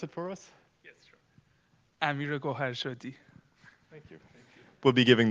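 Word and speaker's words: Amir Goharshady: Amir Gohashed. Can you pronounce it for us? Yes, sure. Amir Goharshadi.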